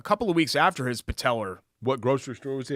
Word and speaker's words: patella: I said it originally this is the correct way patella not patelar which is what you